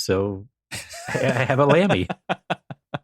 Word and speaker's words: Lamy: I mean, I can't afford Nauti, so I I have a Lamy. Yeah, four letters, two syllables.